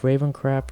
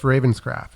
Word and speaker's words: Ravenscraft: And I've been listening to Ravencroft. How do you pronounce his name? Cliff Ravenscraft. Thank you.